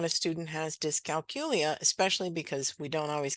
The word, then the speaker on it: dyscalculia: you say it technically disc calcula for that calculus in the middle that's hard to say I forget the y in the middle myself but that is technically the right pronunciation disc calcula what you hear mostly